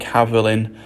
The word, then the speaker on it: Avelin: person, Avelin and Thywylyn, being pronounced something like Havelin, a sound far closer to the modern names Amlyn and Emlyn.